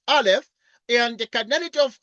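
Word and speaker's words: א: like this is a is a Hebrew letter pronounced Alf and the canity of R we denote by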